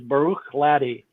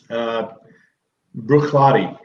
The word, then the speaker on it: Bruichladdich: The way that I've always heard it pronounced is Bruichladdich. Dan, you? Bruichladdich. So I read Bruichladdich.